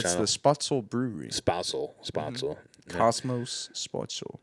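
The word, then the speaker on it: Spoetzl: Spritzels, Texas? Shiner, Texas, but it's Shiner. the Spotzel Brewery.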